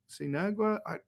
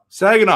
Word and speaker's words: Saginaw: So, Niagara or Sinagua? How do you say that? I don't know. I always forget. What's that one, Sean? Saginaw.